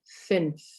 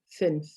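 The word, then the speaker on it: fünf: and the letter u with the normal amount is another number and it's the number five which is finch finch okay so i'm going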